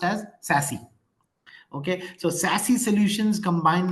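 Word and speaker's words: SASE: so it's actually s a e but it's pronounced as sassy okay so sassy Solutions combine network security functions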